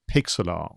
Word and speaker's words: Pixlr: reminded of something called Pixlr. So this is how I pronounce it, but it is spelled Pixlr.